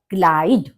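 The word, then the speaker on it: Kleid: संयुक्त वर्ण जो बनता है वो आई बनता है तो हमारा इसका हम इसको कैसे प्रोनाउंस करेंगे क्लाइड क्ला ग्रेस रॉक रॉक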